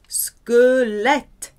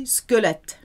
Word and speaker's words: squelette: Squelette. Q-U is a hard K. Squelette.